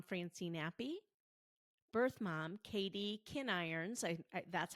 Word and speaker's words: Kinirons: episodes, adoptive mom Francine Appy, birth mom Katie Kinirons, that's how you pronounce it, Mejia, and adoptee Allison Olson.